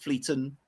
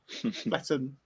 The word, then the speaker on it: Fletton: I pronounce that right it's not it's not Fleeton it's not Fletton Fletton okay and Woodston greens quite 37 7.72%.